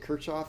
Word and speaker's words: Kirchhoff: written down here and k-i-r-c-h-o-f-f and I I say it Kirchoff it's Kirchoff is I believe the correct pronunciation somebody once told me